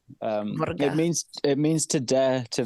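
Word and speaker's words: våga: Vaga, it's a Scandinavian, but it's a Swedish term, and pronounced Vorga. Vorga.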